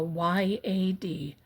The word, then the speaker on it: yad: That's what this is called, a y a d, a yad.